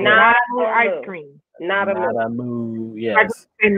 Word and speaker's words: Nada Moo: In other words, like the word nada. I just wanted nada. To spell it. So nada. Yes. N-A-D-A-M-O. Okay. M-O. N-A, yeah, M-O-O. A moo like a cow.